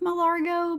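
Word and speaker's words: Mar-a-Lago: I think it's pronounced Malargo, but I'm not rich enough to name a house.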